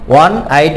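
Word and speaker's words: one-eyed: I made dash on আইড ম্যান, আমরা জানি এখানে ওর উচ্চারণ ওয়ার মতো হয়েছে, তাই এখানে অ্যান বসেছে। I made an ওয়ান আইড ম্যান on dash road, road নির্দিষ্ট তাই অন দ্য রোড।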